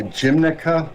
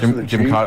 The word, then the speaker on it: Gymkhana: I don't think I could pronounce it, but is it something like a Gymnica or something like that? Gymkhana.